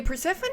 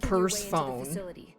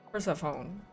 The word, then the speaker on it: Persephone: Yeah, Persephone is a really pretty name. Perspective. And this passcode will give you access to the obviously that's once I found out it wasn't pronounced purse phone.